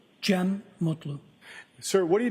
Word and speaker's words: Cem: I also spell it uh with a G. GM. And could you tell us your name, sir? Jim Mutlu.